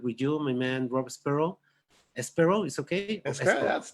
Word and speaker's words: Espero: be in contact with you, my man Rob Espero. Espero is okay. Espero, that's perfect. Now, Rob if I wanted to Espero. be a Latin lover, it'd be Espero. Espero. Rob Espero.